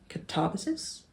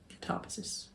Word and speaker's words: Katabasis: This is the one that nobody knows how to pronounce. So Katabasis? Katabasis? Katabasis. I'm going to call it Katabasis because I think that sounds right.